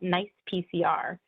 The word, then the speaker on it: NCEPCR: quite the mouthful, so we pronounce the abbreviation NICE-PCR, so I'll be using that from now on.